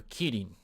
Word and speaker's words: Kirin: Or Kirin, to pronounce it, for correct pronunciation.